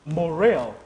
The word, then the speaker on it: Morel: Is that how they pronounce the name? How do they pronounce that other name? M-O-R-E-L? Morell. Morell. So I got it right.